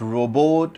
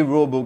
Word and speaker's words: robot: examiner can ask the cues can be what robot when and where did you see it what the robo can do and why you liked it so